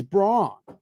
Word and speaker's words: Braun: He's pronouncing his name wrong. It's Braun.